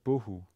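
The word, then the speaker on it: בֹּהוּ: then is the word bohu which is another word that has the stress on the first syllable starts with a bet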